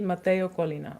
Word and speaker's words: Matteo Collina: have to say it once so Luca maraski Mateo Colina okay all right cool all right are we